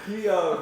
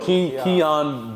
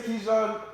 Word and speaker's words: Kijan: Keon, bro. Keon Boon's EP, Mad for God 2, because bro, like that thing tripped me out. I usually pronounce it. I apologize. Yeah, if we say Kan, we know the right the right way to